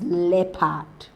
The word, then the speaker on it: leopard: the first option is key not Quay it's pronounced as key the second option is not l lad leopard all right is leapard then the third option C is shown and